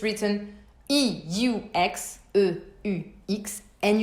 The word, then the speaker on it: eux: right now, it's written E-U-X, E-U-X, and you pronounce it E. Exactly like the letter, the alphabet letter, the neutral closed E.